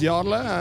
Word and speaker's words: Jarle: introduce yourself for our viewers my name is yarla and I'm the bass player of ride amazing